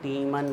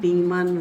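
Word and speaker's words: Tiemann: डालो heading reamer टीमन reaction. पता है इसका नाम क्या है? रीमर नहीं, टीमान नहीं, काटीमान, टीमन। रीमर प्रोनाउंसिएशन है।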